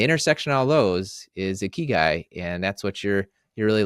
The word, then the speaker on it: ikigai: I think is it Ikigai? Tell me. You got it. You Okay. All right. got it. Ikigai.